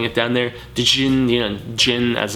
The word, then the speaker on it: Djinn: Djinn, Djinn as it's pronounced, but no chaser.